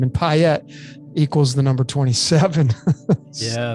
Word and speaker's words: Payette: It's like Piet. It's pi. I pronounced it right. Good for me. You did. Yeah. It's Piet. So, when you separate the syllables, pi obviously is pi. And then the 2 T's that come together form the symbol of pi.